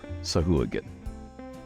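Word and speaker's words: Sahuagin: and sea elves in particular so sahagin or sahagan both are correct then both means you should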